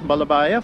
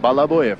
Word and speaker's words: Balabuyev: If I may, I would like to introduce this gentleman here, Pyotr Vasilievich Balabayev, who is the chief engineer of the Antonov design office. Balabuyev is the exact. Balabuyev is the pronunciation.